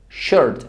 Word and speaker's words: shirt: No shirt ni shirt shirt boca de o pero pronuncio una e shirt tshirt diferente de